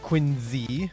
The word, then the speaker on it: Quincy: like manchester new hampshire right quincy which is pronounced quinzee not quincy yeah i can't argue with you there rabbi